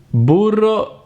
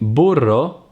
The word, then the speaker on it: burro: and jam the trill the Italian R is pronounced by vibrating the tip of the tongue just behind the upper tip a double R as in burro butter or in Carrera